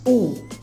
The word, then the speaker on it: o: Pay attention to the pronunciation because the name of the letter is O, but the article is U. We don't say O, we say U.